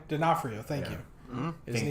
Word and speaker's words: D'Onofrio: Isn't Vincent D'Onofrio, how do you pronounce his D'Onofrio? name? D'Onofrio, thank you.